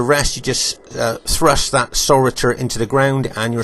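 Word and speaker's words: sauroter: And the butt also had a spike on the end called a saurator. It's spelled S-A-U-R-O-T-E-R, saurator.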